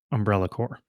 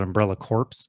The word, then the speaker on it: Umbrella Corps: Umbrella Core. My favorite thing about Umbrella Core is that half the people who love that game call it Umbrella Corpse. And that feels more appropriate than pronouncing it correctly.